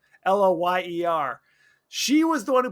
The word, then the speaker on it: Loyer: Shauna Lawyer, who I said lawyer. Oh, I guess that's just how you pronounce it. Loyer.